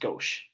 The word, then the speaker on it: gauche: It's pronounced gauche.